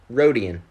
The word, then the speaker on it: Rodian: saying it right though it's rhodium right rhodian rhodian perfect yeah like greedo you know the rhodians